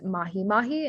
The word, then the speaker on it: mahi-mahi: pattern here is that the e sound is spelled as an i in hawaiian so the correct spelling for